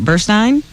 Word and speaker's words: Burstein: Lesbian Brooklyn family court judge Karen Burstein or Burstein. How do you say that? Burstein. How do you spell it? S T E I N.